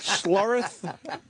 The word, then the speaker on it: Schlereth: Travis, you know this guy, Mark Schlereth? I think that's how you pronounce it. It doesn't ring a bell. S-C-H-L-E-R-E-T-H.